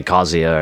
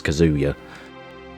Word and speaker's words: Kazuya: Same as with Tekken, where I say Kazuya and everyone else says Kazuya. Oh, I fucking hate how that sounds. Kazuya is the right way to say it.